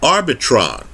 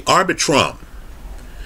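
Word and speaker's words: Arbitrum: opportunity to invest in it but it's called arbitron excuse me arbitrom the last three letters are r-u-m right let's spell it out a-r-b-i-t-r-u-m arbitrom just understand that this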